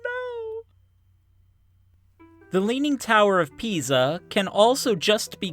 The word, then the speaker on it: Pisa: Yeah, that is pronounced Pisa. It is Italian, so the S is pronounced like a Z, and the I sounds like E.